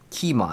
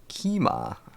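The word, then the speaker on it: Qiamah: And again, what we're looking for is Kima. It's spelled Q-I-A-M-A-H. Kima.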